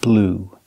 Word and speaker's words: blew: blow in the past blew blue that's right just like the color blue the pronunciation is the same in the present blow